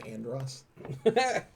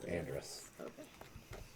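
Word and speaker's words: Andras: wizard I'm trying really hard not to say Andross I guess so what is it was Andrus was that it yeah how do you spell it a-n-d-r-e-s that's right uh it is a-n-d-r-a-s Andrus is seeking what's that oh sorry I was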